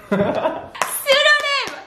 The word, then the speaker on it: pseudonym: P is silent. Yes. I'm gonna say Sudoni. Sudoni. Why is it so good? Sudoni. Sudoni. Sudoni. No, I forgot that. Sudoku. Pseudonym.